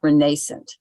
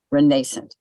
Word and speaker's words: renascent: And it's pronounced renascent, just renascent.